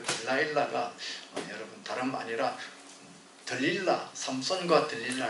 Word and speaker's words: 들릴라: 그가 데뷔할 때 딜라일라라 하는 노래 제목으로 데뷔를 했습니다만 딜라일라라는 발음은 영어 발음이고 우리 성경에는 들릴라죠. 들릴라. 또 영화 제목은 어떤 데는 델릴라 그렇게 표현하죠.